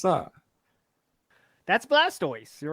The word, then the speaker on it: Blastoise: on Blastoise there you go see how' you pronounce that that's Blastoise you're right okay but it's okay mirat you